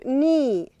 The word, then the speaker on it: knee: And we have here knee. Knee. K is silent.